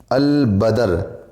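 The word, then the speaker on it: البدر: है अलिफ़ और लाम, लेकिन इसके अंदर साइलेंट नहीं रहता है, इसके अंदर आवाज़ आएगी। जैसे अल क़मर, अल बदर वग़ैरह।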